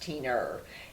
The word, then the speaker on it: Tina: My grandmother used to say, in the South, Tina is pronounced Teener.